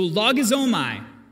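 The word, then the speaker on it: λογίζομαι: In the Greek, it's a term called logizomai. And yes, I looked up the pronunciation as well to make sure I nailed it. So logizomai, it sounds Japanese to me, but anyway, it's Greek.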